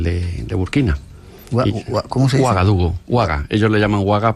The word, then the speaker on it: Ouagadougou: Ouagadougou, Ouaga.